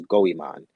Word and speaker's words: Goemon: If it was Japan or Egypt, such as, I think in Japan there's a character who's Goemon. I think that's how you pronounce his name, Yeah, Goemon.